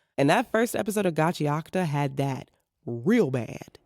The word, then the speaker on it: Gachiakuta: Gachiakta, which I was mispronouncing as Gachiakuta for way longer than I'd like to admit.